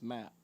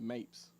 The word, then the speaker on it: Mapp: My aunt's last name is Mapp. She said Mapes.